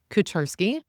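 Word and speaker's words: Kucharski: It's pronounced Kacharski.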